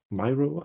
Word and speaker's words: Miro: Oh yeah, in in Miro um Myro I'm never never sure how you would pronounce it. I guess Miro because it's uh I guess named after the artist.